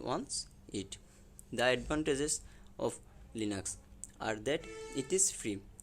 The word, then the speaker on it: Linux: third number is linux linux pronounced lean ux is a family of